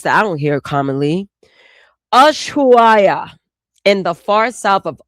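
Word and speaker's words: Ushuaia: Yesua. Okay. And the I I said it wrong. I butchered it. Pardon me. That's a place that I don't hear commonly. Ashua.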